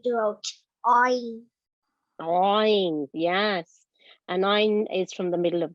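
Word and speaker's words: ع: And ain, remember, is not like alif and hamza. Alif and hamza sound differently, and ain sounds differently.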